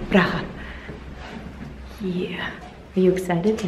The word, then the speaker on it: Praha: Praha. I think you should say it like the Eastern European way. Praha.